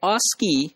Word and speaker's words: ASCII: a SC III and that is pronounced as ASCII so that Oski had seven bits for